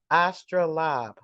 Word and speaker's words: astrolabe: make astronomical measurements okay so it's called it's pronounced astra lob okay and it is an instrument that's formerly